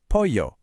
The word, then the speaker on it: pollo: But a double L, that makes a y sound, like in pollo, for chicken.